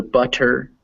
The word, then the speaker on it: butter: Now, if you want to work on your pronunciation, all these words are written with T's, so they look like they're butter, better, bitter. But when you say them actually with more of a D sound.